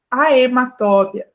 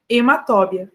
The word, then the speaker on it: Haematobia: regra importante é que o h Inicial né quando ele começa a palavra ele é um h mudo tá então eh não existe haematobia né haematobia existe hemat Tá além de ser o h não ser pronunciado aqui tem um de tongo né então fica hemat tá bom Ai eu